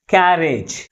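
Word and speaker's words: carriage: meaning మాత్రమే మారుతుంది okay for example క్యారేజ్ A syllable ఎక్కువ ఫోర్స్ గా పలుకుతుంది ఫస్ట్ సిలబుల్ మిగిలిన సిలబుల్స్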